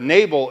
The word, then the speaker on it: Nabal: I'm sorry, I keep saying Nabal, Nabal, because I've been wrestling with it all week. So do you know this? We're talking about the same guy, even though I'm pronouncing it wrong the entire time. So all of you English people are going to hate me by the end of this service. But Nabal is his correct name.